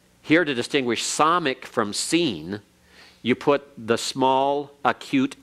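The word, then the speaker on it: sin: No TS sound for seen. It's just like Samic, identical sound.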